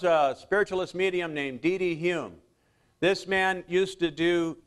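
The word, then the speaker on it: Home: his name it's uh it's spelled h o m but uh it's pronounced Hume but uh here's a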